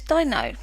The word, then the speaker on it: Deino: And today I'm going to be looking at a Pokemon called, I believe the pronunciation is Deino.